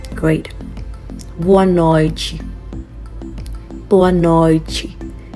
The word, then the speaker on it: boa noite: Boa noite. We are getting Ch instead of T because that's the Brazilian accent, okay?